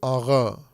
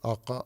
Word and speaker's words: آقا: ایک لفظ ہے فارسی کا آقا، الف قاف دو نقطے والا اور الف، آقا. اس کو تلفظ جب کرتے ہیں تو آغا تلفظ کرتے ہیں. یہ ترکوں کا لہجہ ہے. یہ آقا، آقا فارسوں کا تلفظ ہے اور آغا یہ ترکوں کا تلفظ ہے.